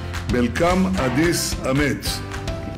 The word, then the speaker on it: መልካም አዲስ ዓመት: Melkam Adis Amet.